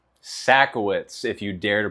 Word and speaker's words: Sajkowicz: Sacowitz, if you dare to pronounce it.